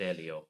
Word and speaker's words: Elio: I think it's pronounced Elio.